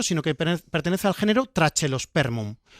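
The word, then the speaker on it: Trachelospermum: Este no pertenece a ese género, sino que pertenece al género trachelosperm. Correctamente habría que decirlo traquelosperm, pero yo pronuncio la che.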